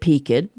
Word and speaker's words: peaked: Being a Southern family, we pronounced it peaked because, just a side note, it's pecked is the proper pronunciation. Did you know that? But as a Southerner, we call it peaked.